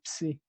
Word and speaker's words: psi: Por otro lado, la psi, esto comúnmente se pronuncia así, psi, ¿sí?